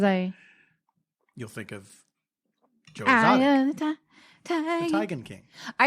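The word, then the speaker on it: Teigen: saying it that's like Chrissy Tegan's name is actually Chrissy tigan no yeah but it's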